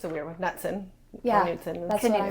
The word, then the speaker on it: Knutson: Knutson. It is, okay, the K is not silent. Knutson. Yeah. Knutson. So it's like you're on a canoe, add the T, and then a son.